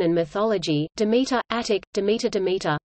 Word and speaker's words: Demeter: ancient Greek religion and mythology Demeter attic Demeter Demeter pronounced DM TR Doric damata damned her is the